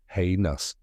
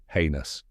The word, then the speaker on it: heinous: the correct pronunciation is heus let's break it down step by step the first part is hay like the dry grass that horses eat and the second part